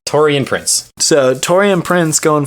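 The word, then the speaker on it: Taurean: go for it I'm going to let you pronounce his first name uh Toran Toran Prince so torian Prince going 14th overall this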